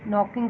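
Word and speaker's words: knocking: Examples, who इज़ नॉकिंग एट the door, इसमें देखिए के है नॉकिंग का, वो साइलेंट है।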